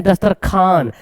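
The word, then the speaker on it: دسترخوان: है पढ़ते हैं खवाजा दस्तर ख्वान लिखा हुआ पढ़ते है दस्तर खान खवाब लिखा हुआ पढ़ते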